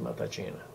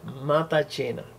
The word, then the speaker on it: Matacena: Mi nombre es Matachena. Como podrán ver, se escribe de otra manera, pero se pronuncia así, Matachena. Es un apellido italiano.